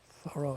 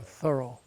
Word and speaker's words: Thoreau: r e a u pronounced thorough thorough.